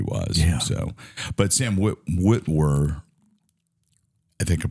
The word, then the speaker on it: Witwer: So, but Sam Witwer, I think I pronounced his last name.